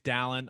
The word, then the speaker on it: Dallin: about dang it his name's dallin i we just talked to him about it and i said i was like dude i'm gonna mess up your name spell it differently dallin but first